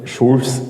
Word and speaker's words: Jules: ജനിച്ചു പേരിന്റെ സ്പെല്ലിം എങ്ങനെയാണെങ്കിലും ഫ്രഞ്ച് രീതി അനുസരിച്ച് വായിക്കുന്നത് ഷൂസ് എന്നാണ് ഇനി ഇതും മനസ്സിലാക്കി നാളെ തൊട്ട് ഫിസിക്സ് പഠിക്കുന്നവര ഷൂൾസ് ലോ എന്നൊന്നും പറയരുത് കാരണം ജൂൾസ് ലോയുടെ ഉപജ്ഞാതാവ് ജെയിംസ് പ്രിസ്കോട്ട് ജോൾ ഒരു ഇംഗ്ലീഷുകാരനാണ് അതുകൊണ്ട് അവിടെ ജയയുടെ ഉച്ചാരണം ജ എന്നായതുകൊണ്ട് ഷൂൾസ് എന്ന് പറയേണ്ട കാര്യമില്ല ആറാമത്തെ വയസ്സിൽ സ്കൂൾ വിദ്യാഭ്യാസ